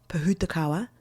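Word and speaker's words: pohutukawa: So if you're ever curious about looking that up, Pahutakawa is a Maldi word and it is spelled P O H U T U K A W A. Putakawa is how you pronounce it.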